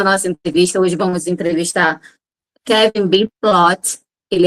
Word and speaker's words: Kevin Ploth: Kevin Ploth is I correct if I pronounce right, right?